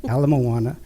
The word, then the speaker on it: Ala Moana: the way I never heard the street names pronounced wrong here so much it's Kawaii Ala Moana kaloa but anyways sorry I lived in Hawaii